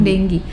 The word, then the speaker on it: dengue: demam tinggi dulu ya Demam dengue bacanya bukan Dengok ya bukan juga ding uh tapi Demam dengue kemudian mungkin kalau yang